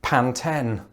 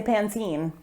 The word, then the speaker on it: Pantene: the company pantene and i say pantene that's so weird to me because when growing up i was just always impressed by the term pantene pro-v and it just wouldn't sound the same if i was saying pantene pro-v it's a bit of